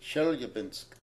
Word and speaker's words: Chelyabinsk: Here is a shul in Chelyabinsk and Jewish Community Center, which is also under the supervision of Lubavitch. Its director is Rabbi Meir Kirsch. Of course, the Russians will pronounce it Chelyabinsk.